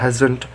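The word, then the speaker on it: hasn't: हैज़ नॉट का short form होता है हैज़न्ट। Correct pronunciation हैज़न्ट।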